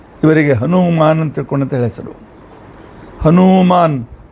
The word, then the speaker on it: ಹನುಮಾನ್: ಹನುಮಾನ್ ಅಂತಹೇಳಿ ಹೆಸರನ್ನ ನೀಡುತ್ತಾರೆ ನಾವೆಲ್ಲರೂ ಬಹಳ ತಪ್ಪು ಉಚ್ಚಾರಣೆ ಮಾಡುತ್ತೇವೆ ಹನುಮಂತ ಹನುಮಂತ ಹನುಮಂತ ಹನುಮಂತ ದೇಶೀಯ ಭಾಷೆಯಲ್ಲಿ ಈ ರೀತಿಯಾಗಿ ತದ್ಭವವಾಗಿ ನಾವು ಉಚ್ಚಾರಣೆ ಮಾಡುತ್ತೇವೆ ಆದರೆ ಸಂಸ್ಕೃತದಲ್ಲಿ ಮೇಲ್ತರ ಮೇಲ್ತೋರಿಕೆಗೆ